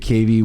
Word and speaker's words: Cavey: It's Cavey, yeah. And then we'll come right back in just a moment. Great. All right, we're back with David Cavey.